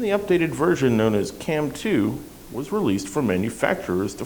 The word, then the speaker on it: CAMM2: compex was a technology called cam 2 that's spelled c mm2 but what is Cam